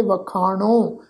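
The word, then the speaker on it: ਵਖਾਣੋ: इस शब्द का नासकी टोन में पाठ उच्चारण करांगे वखाणो।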